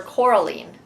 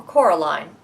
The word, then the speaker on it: Coraline: Book Talk for Coraline, or Coraline, depending on how you pronounce it, by Neil Gaiman.